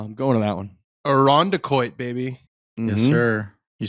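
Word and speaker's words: Irondequoit: Well, I just know when Frankie comes on, he always says it wrong. He's like, I feel like you were just saying it wrong. I'm like, no, I've just lived there my whole life. That's great. That's great. What does he say? He says, Irandiquois, I think. And I'm like, Irandiquois.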